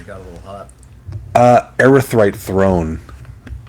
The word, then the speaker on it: Erythrite: Erythrite Throne. So it's spelled ERYTHRITE. Earthright Throne.